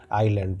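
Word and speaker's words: island: दोस्तों आइसलैंड ठीक है लेकिन यहां पे क्या होता है एस साइलेंट होता है तो हम क्या पढ़ आईलैंड पढ़ते हैं इसलिए आप कंफ्यूज नहीं होगा कि आप इसको आइसलैंड पढ़ेंगे आइसलैंड नहीं होता वो आईलैंड होता है यस इसमें साइलेंट होता है ठीक है जैसे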